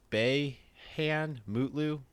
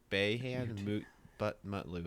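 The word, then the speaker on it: Beyhan Mutlu: let me finish okay his name is bae han mootloo b-e-y-h-a-n m-u-t-l-u bay hand butt mutt lou okay we're just going to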